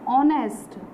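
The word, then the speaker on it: honest: क्योंकि इसका प्रोनाउंसिएशन क्या हो रहा है? ऑनेस्ट। ऑनेस्ट इसका प्रोनाउंसिएशन है, और ऑनेस्ट के प्रोनाउंसिएशन में सबसे पहले क्या आ रहा है? आ रहा है। और आ क्या है हमारा? ए, ई, आई, ओ, यू। आ क्या है हमारा? वॉवल है, इसलिए हमने यहाँ पर क्या लगाया है?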